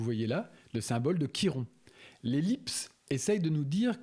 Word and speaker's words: Chiron: mais on le prononce Kiron. Le CH c'est un K dans cet usage là dans cette prononciation en tous les cas.